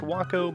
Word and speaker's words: Waco: of Ohio it's pronounced wakow but it looks like Waco the city in Texas we're going to take a flight over Tampa Bay which st.